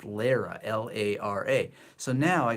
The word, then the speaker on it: Lera: yeah look oh oh I don't even know if it's pronounced Laura it's Lera sorry guys I looked